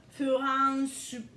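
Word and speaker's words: フランス: Parce que si vous dites France, personne ne va vous comprendre ici. Ça, c'est garanti. Furansu. OK? Furansu.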